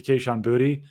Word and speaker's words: Kayshon Boutte: Also on that underthrow to Kayshon Boutte, I said that correctly.